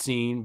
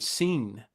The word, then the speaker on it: Sin: scen so it's pronounced scen but it spelled uh SI i n as we would think of the word sin but it's actually the god seen and this is exactly